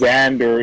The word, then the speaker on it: Xander: the V and because Xander is you can act but it's pronounced like a z it's very easy I